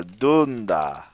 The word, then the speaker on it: dunda: There are exceptions to the rule, but basically it's the second to last syllable that's stressed. So when you say the word scami, it's scami, scami, or penda, which is a word for friend, or dunda, dunda.